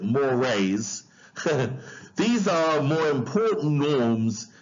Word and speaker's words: mores: Now, mores, it's spelled mores, but we pronounce it mores.